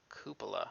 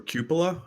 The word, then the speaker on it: cupola: ] word kuba kuba cupola or cupola I think they're both correct interesting it's a couple